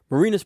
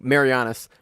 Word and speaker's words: Marianas: about it last week marinas Pro not may your honest or so no Marianas not marina so it's been messing it up like Marianas Trench yep that's actually pronounced